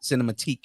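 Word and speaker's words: Cinematheque: Cinematique.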